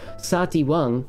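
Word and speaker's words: サーティワン: stolen english loan word sati wang is how japanese people say baskin robbins because for some reason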